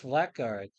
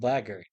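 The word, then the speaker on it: Blackguard: It says black guard, but apparently it's called blger. That's how they pronounce it.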